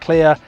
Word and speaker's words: KLYR: The other one to talk about is the TEC KLYR, pronounced clear.